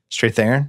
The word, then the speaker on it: Strathairn: say his last name I've never fit there straight theron yeah I was come David Strathairn it's pronounced David my prisoner that scene with the